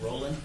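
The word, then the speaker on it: Rohland: a permitted property manager is it pronounced Roland yes okay great thank you Mr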